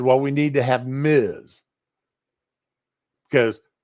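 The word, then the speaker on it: Ms: married you have two honorifics for women so Miz was invented now they've got well it's not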